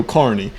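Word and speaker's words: Kearney: couple times too but it's spelled k e a r NE y but they say it on the radio Carney just like we say our last name that's T's Point okay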